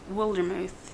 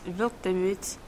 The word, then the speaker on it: Wildermuth: It's pronounced Wildermuth. Oh, that sounds like a cool name. In German, it's Wildemut, and it means wild courage.